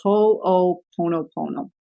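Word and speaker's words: ho'oponopono: throw a link up on our website but it's spelled h o apostrophe o p o n o p o n o so ho ho Pono Pono and it's really about the concept of bringing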